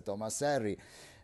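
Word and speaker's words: Thomas Henry: alla fine del 1700 Thomas R pronuncia inglese Tomas Herry ma il nome è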